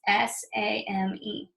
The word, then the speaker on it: same: So just like come, we don't say the E. It's a silent E and it changes the A to make a different sound. It's S-A-M-E, same.